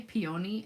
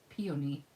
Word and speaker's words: peony: little p i say peony and then somebody corrected me the other day and said it's peony peony and i say peony i i put the accent on the wrong syllable so i don't know